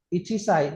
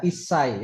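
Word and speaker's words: 一歳: Sama misalnya kayak angka ichi ketemu sa itu bacanya bukan ichi saai. Ada yang tahu? Isai sense. Iya isai ya. Ichi ketemu sa bacanya isai.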